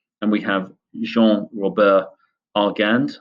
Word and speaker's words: Argand: we have Jean Rober arand I guess you pronounce it in the French way um first proposing the